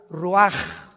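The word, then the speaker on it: רוח: rach así como suena se pronuncia la c en hebreo como J ruaj se les só y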